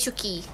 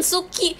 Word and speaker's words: Shuki: Bukan Suki, Shuki. Dude, that's not how you spell it. This is how you spell it. This is how you spell it. Not Suki, Shuki. You guys are uncultured. Suki kalau jadi cewek Susi ya, iya. Shuki, not Suki, guys.